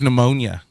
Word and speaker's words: pneumonia: I have pneumonia. Yay. Yay. So, have you ever wondered why the P is silent in pneumonia?